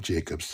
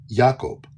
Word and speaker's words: Jacob: First of all, the name Jacob in Hebrew is Jacob. Okay, Jacob. Yaaqob. Jacob.